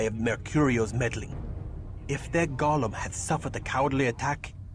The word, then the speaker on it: golem: It's pronounced Golem.